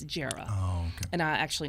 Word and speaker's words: Jera: reporter named Jera Stapleton, a lot of people don't know how to pronounce her name. It's short for Geraldine, but it's Jera.